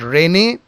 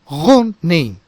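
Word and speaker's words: René: Before we go ahead, let me tell you that it is not Rene, it is not Rene Descartes, but something else. First, let us look into this part. Now this is pronounced as Rene, Rene, and this portion is pronounced as Descartes, Descartes.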